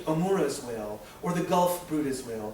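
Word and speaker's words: Bryde's: Like the misnamed Amora's whale or the Gulf Brutas whale, pronounced Bruda, not bride.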